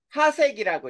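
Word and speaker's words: 파섹: 자,요 거리를 1 방년이라고 하고 그다음에 세 번째 PC라고 해서 이거를 파색이라고 읽어. 파색.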